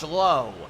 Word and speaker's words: Josh Lowe: not related Yellow Jacket they pronounced their name completely differently it's Brandon lau and Josh Lowe even though it's spelled the same wander Franco now over